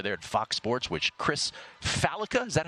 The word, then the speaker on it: Chris Fallica: at Fox Sports, which Chris Fallica, is that how you pronounce it? Chris Fallica is the host of? Yep.